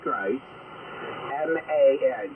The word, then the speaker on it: Christman: So it's Christ, as in like Jesus Christ, MAN. So put Christman, Christman, it's pronounced, method.